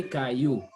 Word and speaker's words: caillou: voice i double l o u is pronounced as as y and y is as e so we say caillou okay uh-huh then the